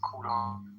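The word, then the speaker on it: کوروش: In Persian it is pronounced Kurosh, but in English you call him Cyrus.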